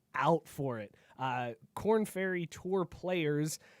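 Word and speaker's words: Korn Ferry: that I was like wait corn like tab and it does it's spelled like corn like the band you right now but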